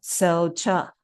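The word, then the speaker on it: གསལ་ཆ: You can pronounce it 小恰 sel cha.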